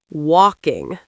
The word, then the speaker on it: walking: Walking. Walking. Wow, without the L, it feels much lighter to say.